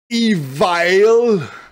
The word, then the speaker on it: Evile: This is my sit down chat with Old Drake from Evile. We're going to say Evile, right? Yes. We're not going to use a Spanish pronunciation.